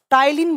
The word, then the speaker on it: टाइलिन: enzyme टाइलिन अमाइज enzyme यहां पर P pronounce करते हैं तो इसको पी को साइलेंट कर देते हैं टाइलिन बोला जाता है तो आपसे एग्जाम